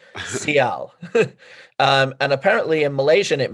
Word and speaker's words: Ciel: Apparently, I'm going to pronounce it Ciel, and let's hope that I'm right. Kiss from a Rose. Yeah, not Seal, Ciel.